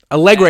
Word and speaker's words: Allegre: Allegre is how you pronounce his name.